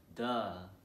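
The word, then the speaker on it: deux: know two people and do you remember how to say two in french well we say two in french as do let's repeat that together in three two one duh now one more time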